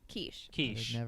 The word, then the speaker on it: quiche: that so he's got people saying it's it's pronounced quiche okay I was right quiche yeah all right this is an acronym Bret